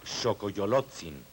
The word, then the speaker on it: Xocoyolotzin: Sabemos que este personaje se llama Xocoyolotzin, nombre formado por las sílabas Xo, Coyolo, Tzin.